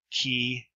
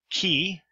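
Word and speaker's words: chi: pH as in phase key which looks like an X as pronounced like a the CH as in chaos so there's no difference in the Erasmus Ian pronunciation of kapa and the key C is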